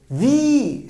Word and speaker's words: wie: ki iyi be ne demek ki bu We şeklinde telaffuz ediliyor değil mi Wie heisst du Demek ki